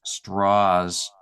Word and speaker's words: Strauss: big deal about saying his name is actually pronounced straws so that um it